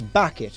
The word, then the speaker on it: Bucket: me for 36 years it's bucket okay hin it's bucket and I have it know that I would get a divorce from you H if you don't pronounce it bucket you D Ste sack